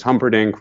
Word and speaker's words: Humperdinck: very vain character called Prince Humperdinck rhymes with trumpet Inc and he is wants